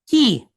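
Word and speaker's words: כִּי: We know it's kaf and not chaf because it has the dot inside. And it's pointed with a kirik yod, right? So that tells us it is pronounced ki.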